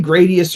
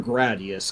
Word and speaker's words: Gradius: Yeah, I've always called it Gradius. Anyway, I'm a gray guy, but as long as that doesn't interfere too much with the flow of things, I guess I'll just.